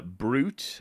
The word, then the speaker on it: Brute: word in but uh brute Accent on the E is the vocative vocative the addressing form of the name Brutus Fringe would indeed work as